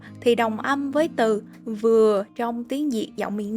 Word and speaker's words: vừa: Trái dừa thì đồng âm với từ vừa trong tiếng Việt giọng miền Nam. Vì ở miền Nam có một số trường hợp tụi mình phát âm chữ vờ như là chữ giờ vậy.